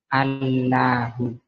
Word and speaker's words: الله: Allahu ng Allahu terus karena bacanya allahu dipertebal menjadi Allahu. Nah, orang Kristen bacanya enggak tebal. Allah yang benar itu tebal. Kenapa ditebalkan?